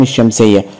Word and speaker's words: الشمس: وعشان كده لو قلنا السماء او السمكة او الصياد او الضابط او الشمس، كل هذه الكلمات لا تنطق بها اللام. وحاول ادرب التلميذ على كتابة